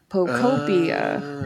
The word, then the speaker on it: Pokopia: So we are sure that it is pronounced, what is it, Pokopia? I was thinking it's like Utopia. Pokopia.